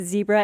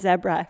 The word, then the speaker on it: zebra: It is pronounced a little bit differently. Same with zebra and zebra.